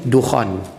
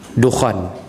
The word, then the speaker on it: Dukhan: cepat-cepat nah salin cepat-cepat nah yang pertama sekali Dukhan Dukhan ejaannya d k h a n Dukhan tulis